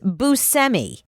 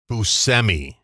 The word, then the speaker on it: Buscemi: Oh, actually, we've been saying Steve Buscemi's name wrong. What is it? Todd Frank? He literally just told us recently that it's Buscemi. Buscemi.